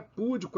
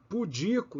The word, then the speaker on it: pudico: é íbero é ibero não é púdico é pudico não é récorde é